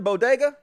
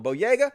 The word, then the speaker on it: Boyega: are angry as with john bodega no boyega i don't know how you pronounce his name john boyega because he posted